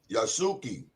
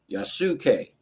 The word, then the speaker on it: Yasuke: The samurai that they give reference to, his name is spelled Yusake. Yasuke. Yasuke. Yasuke.